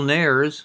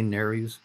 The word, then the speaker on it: nares: your right nostril and the external nares some people say narys those are your nose